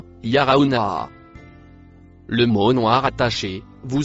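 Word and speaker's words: يرونها: Le mot bleu noir se prononce yarauna.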